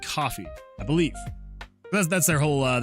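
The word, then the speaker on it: Ko-fi: Uh is it pronounced Kofi or coffee? Uh it is pronounced coffee.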